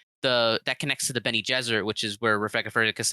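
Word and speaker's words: Bene Gesserit: yes thank you uh ben e like benny like the name jesuit so it's like jesuit okay got it okay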